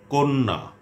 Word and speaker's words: কন্যা: যদি শব্দের আদ্য বা প্রথম অ এর পর জফলাযুক্ত ব্যঞ্জন বর্ণ থাকে, তাহলে প্রায়শ তার উচ্চারণ ও এর মতো হয়।